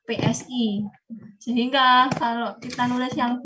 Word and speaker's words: psi: Jadi kalau huruf ini kalau seperti W, jadi seperti U diberi garis begini, ini adalah bacanya pesi, bukan pi. Ya, PSI.